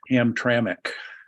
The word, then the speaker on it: Hamtramck: so much a question as a comment it's pronounced Hamtramck thank you thank you I need to learn